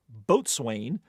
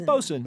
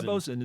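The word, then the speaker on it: boatswain: use the ungainly nine-letter word which land lers mispronounce as boat sway or what rather economical felet word that is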